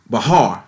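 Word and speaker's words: בחר: The reason why we came there, can we look at, in Hebrew, the word there is Bahar. It's spelled B-A-C-H-A-R.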